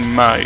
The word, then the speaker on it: Mai: Maybe it's not easier with May. And when I say May, I mean Mai, sorry. Sometimes the pronunciation gets mixed, but she's actually Mai.